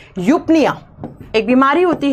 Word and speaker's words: eupnea: चलो सबसे पहली आती है यूपनिया।